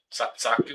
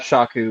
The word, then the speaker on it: Shaku: Saku? Is that how it's pronounced? 5 Shaku.